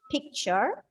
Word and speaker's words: picture: Here we are supposed to stress on the first syllable and the pronunciation of the words will be picture, minute, money, doctor, water.